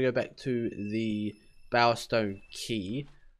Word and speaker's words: Quay: So we're going to go back to the Bowerstone Key. I always thought it was Quay. I mean, that's how it's spelled. But apparently not.